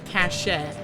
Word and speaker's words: cache: Some people like to say cashache. Cache. I do admit that is a superior pronunciation.